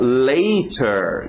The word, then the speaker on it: later: Estava vendo uma lição onde a pessoa estava confundindo letter, som de E, com later, de see you later, vejo você mais tarde, o som de lay, le.